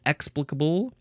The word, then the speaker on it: explicable: word is explicable explicable you can emphasize the first syllable explicable adjective from 1556 capable